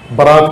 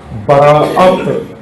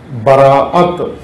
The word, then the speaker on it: براءت: کہتے ہیں، شب برات، برات کہتے ہیں۔ اصل کیا کہنا چاہیے تھا؟ براءت، براءت، الف جو بیچ میں اس پر حمزہ ڈال کے براءت، لیکن وہ عامیانہ تلفظ